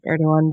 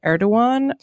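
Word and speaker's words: Erdoğan: Turkey um where recipe erdogan did indeed er do win um which was a great victory for for everyone who didn't want people to use the hard G because the alternative was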